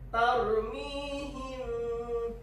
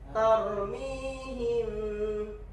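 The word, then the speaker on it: ترميهم: Tarmihim. Jadi bibir mau nyentuh enggak nyentuh tapi nyentuh. Nyentuhnya itu enggak melekat seperti iklap. Coba contohin Zidanim. Nah, enggak terlalu nyut nih. Tarmihim sambil dengung.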